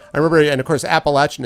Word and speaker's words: Appalachian: remember and of course Appalachian is how they want you to pronounce not Appalachian but okay West is where